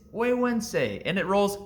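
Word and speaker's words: Güegüense: one of the more difficult cigar names to pronounce in the space it's huensei and it rolls right off the tongue at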